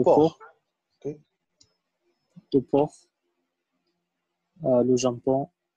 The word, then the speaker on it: porc: Le porc. On ne prononce pas le C, hein, le porc.